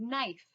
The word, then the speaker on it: knife: Or knuckle, the word knuckle starts with K, but it has a silent K, or the word knife starts with a K, but it's a silent K.